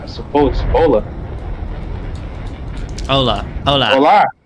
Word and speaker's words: Hola: Hola, I suppose. Hola. Hola. Hola. Hola. They don't they don't pronounce the H though, Adrian.